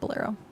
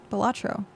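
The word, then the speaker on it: Balatro: Uh, it's not Bolero. Bolatro.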